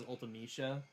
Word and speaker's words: Ultimecia: Did they say Ultimisia? Yeah. Oh. Game Dev says Ultimecia, which I think sounds better.